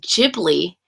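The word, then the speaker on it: Ghibli: also gotten a lot of tickets too um jibli jibli really jibli why why is it pronounced jibli like giblets giblets giblets Studio jibli Ah that's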